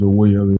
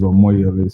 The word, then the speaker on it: Omoyele: You have it correct on the platform, but I think your pronunciation is Omoyele, but it's Omoyele. So it's just to correct that.